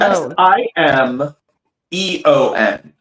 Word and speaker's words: Simeon: m e n like Like Simon Peter. Like Simon. But there's an extra E in there. Oh, wait. How do you spell it again? S I Simone. S I M E O N.